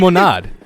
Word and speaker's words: limonade: Actually, I in don't French, it's think- limonade. It's lemonade in French. It is.